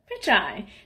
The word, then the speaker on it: Pichai: You know how to say pitch, and you know how to say I. Put it together. Pichai.